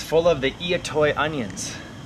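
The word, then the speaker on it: I'itoi: it's full of the eat toy onions that's spelled I apostrophe i t oi three I in that name and these are like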